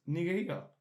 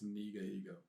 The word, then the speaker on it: Nigo: I was like uh I think you mispronounced that bro Nigo it's Nigo n